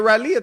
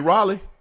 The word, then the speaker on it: Raleigh: I've been to Rileia twice. You mean Raleigh? Raleia. Say it again. Raleigh. You for real? Yeah. But it's spelled R A L E I G H. Raleigh. That's Raleia.